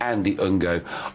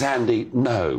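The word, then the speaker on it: Andy Ngo: it's n-g-o is it andy ungo i think it's andy no is how you pronounce it is that right yes it is it's a silent g welcome to talking pints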